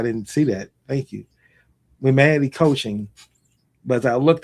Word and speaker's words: Wemanity: Aurelie Harp is the founder of Wemanity. Is that pronounced correctly? It's so I realize it's not an easy one. It's Wemanity. So Wemanity. Humanity, but Wemanity.